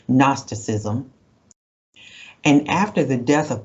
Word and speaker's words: Gnosticism: We don't pronounce the G, Gnosticism.